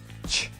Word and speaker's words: Ч: F, h, ts, ch. Next one is ch. It's ch, it's like ch in English, for example. It's ch.